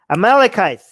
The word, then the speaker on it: Amalekites: of justification they use how do you pronounce that thing amalekites amalekites yes okay i'm allocates um i